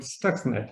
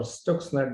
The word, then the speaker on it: Stuxnet: without mentioning the word stuxnet or stokesland depending upon how you like to pronounce it uh obviously i just